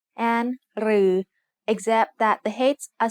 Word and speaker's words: รือ: รือ is pronounced like a combination of รอเรือ and the long vowel สระอือ They are both written like the letter ถอถุง with an extra long line.